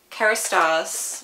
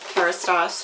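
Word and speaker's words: Kérastase: So the first thing I'm going to start with is hair care, and Kerastase, which I believe is how you say it,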